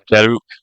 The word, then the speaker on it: jeruk: It's called jeruk. Jeruk. No, not jeruk. Jeruk. Yes. The U is. I forgot the R. I kind of missed the R because I'm American, so we don't pronounce R's occasionally.